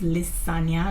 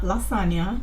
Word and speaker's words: Lissania: It's pronounced Lisania, not lasagna, not lasagna, Lisania.